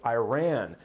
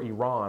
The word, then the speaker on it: Iran: when we started around with Iran or Iran I guess is the proper pronunciation but you get what I mean but